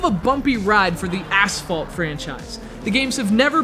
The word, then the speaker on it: Asphalt: This is Asphalt 3D. emphasis on the first syllable.